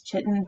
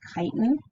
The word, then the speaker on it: chitin: chitin i know it looks like it says chitin but it's pronounced chitin and that is the structural material that makes